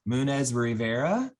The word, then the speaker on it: Munoz-Rivera: name i'm sorry i already know i am munez rivera yeah correct oh i said it right i'm